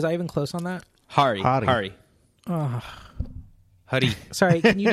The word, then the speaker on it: Hari: Apu is a character from The Simpsons, and so this is a documentary by Harry Kondabalu. Was I even close on that? Hari.